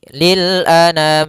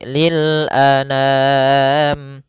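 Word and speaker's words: لِلْأَنَامِ: langsung saja Lil Anam a sempurnakan Hamzah jangan an Jangan dibaca dengan dengung atau dibaca dengan masuk hidung tidak tapi lilam Kemudian pada lam yaitu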